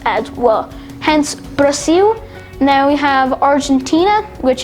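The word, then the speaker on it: Brasil: wonderful now in brazil it's brazil no i'm pronouncing it brazil it's at the end because brazilian portuguese works this way where the ls at the end of some words is pronounced as well hence brazil now we have argentina which is actually pronounced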